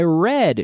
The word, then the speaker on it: read: our e a d the spelling is the same but the pronunciation is different every day i read ii ii ii read read and yesterday i read just like the color red Rojo red but the